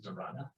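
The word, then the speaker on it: धारणा: The single point of awareness is dharana. Dharana. Say dharana. I'm not going to let you alone until you get the pronunciation.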